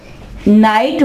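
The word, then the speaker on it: knight: तो यहां पे क्या है कि ये जो जी एच है ये कहलाएंगे साइलेंट लेटर्स। नाइट वर्ड के अंदर वर्ड्स क्या होते हैं?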